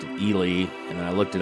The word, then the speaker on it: Ely: for the longest times I called the city Eli. It's spelled E L Y. And I was watching the local weather up there and they pronounced it Elely.